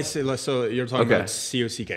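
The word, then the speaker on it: kak: So you're talking about C-O-C-K.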